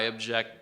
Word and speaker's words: object: This can either be a noun or a verb. In Spanish, this may make sense. I'm really hoping. I use Google Translate. But you have two different words for the verb and noun. In English, it's the same sentence. I object to that object. The different pronunciations of the exact same word, do you hear that?